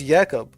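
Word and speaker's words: Jakub: It says Jacob, but it says his name is pronounced Yakob.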